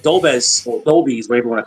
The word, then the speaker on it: Dolbez: It doesn't Oh, have an official pronunciation other than the way that I Dol- and all my friends say, which is Dolbez.